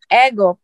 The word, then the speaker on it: Egop: You say the word egg and up together. Okay. You pronounce egg. Egg up.